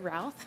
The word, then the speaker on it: Routh: Next, we'll hear from Ruth with Great River Greening. Apologies if I mispronounced. Good morning. No apologies needed. My name is Routh.